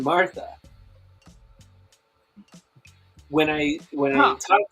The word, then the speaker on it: Martha: and i call her amatha i do not pronounce the r in martha when i when i